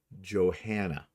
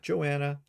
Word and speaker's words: Johanna: But her name is actually pronounced Johanna. Not Joanna, not Johanna, Johanna.